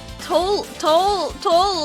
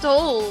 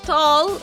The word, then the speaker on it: Toll: Toll is pronounced like toll, not tall.